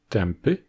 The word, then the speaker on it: tępy: au niveau des lèvres, alors c'est le son [m], qui est donc à la fois nasal et labial, qui va faire naturellement la transition. Vous l'aurez deviné, les autres consonnes labiales que le [m] sont le [b] et le [p]. C'est encore une fois vrai en polonais, devant les consonnes occlusives labiales "b" et "p", avec des mots comme "głęboki", profond, "tępy", obtus et "dąb", le chêne.